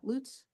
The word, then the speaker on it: Lutz: Lutz?